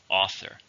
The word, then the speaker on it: author: Author. He's a very successful author. Second word of the day is century. Century is 100 years. It's a noun. How many syllables in century? 3. Stress on the first.